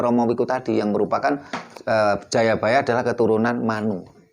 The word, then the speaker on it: Jayabaya: Jadi ini nyambung yang disampaikan oleh Romo Wiku tadi, yang merupakan Jayabaya adalah keturunan Manu. Dan bacanya Jayabaya bukan Joyoboyo. Kenapa? Karena sastra Jawa itu baru mengenal vokal O itu baru abad 15.